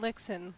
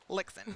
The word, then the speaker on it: Lichtsinn: here we go lixon like Dixon with an L yes yes I remember